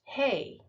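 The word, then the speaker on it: ה: It's pronounced Hey.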